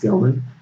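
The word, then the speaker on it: Gelman: ever decide an election Andrew gellman it's pronounced Gilman has been doing some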